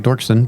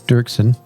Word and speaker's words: Dirksen: Dirksen yes Brian Dirksen it's spelled looks like dorksen but it's Dirksen yeah and I actually